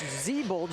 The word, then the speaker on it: Ziemba: And apologies, make sure we have pronunciation correct. It's Ziemba.